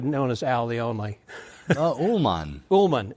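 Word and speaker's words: Ulman: Ullman. Ullman. You see, that's why I don't go as Al Ullman. Everybody either mispronounces it or misspells it.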